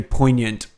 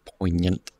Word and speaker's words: poignant: Oh, so you know what I said to B that I think is very poignant on this is... That's a fun word. Poignant. Poignant. It's spelled all stupid, poignant.